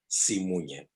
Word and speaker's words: Simunye: Could you just pronounce that word again? SIMUNYE.